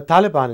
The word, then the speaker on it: Taliban: the Taliban and what's the right way to pronounce it uh Taliban is the right way to pronounce it well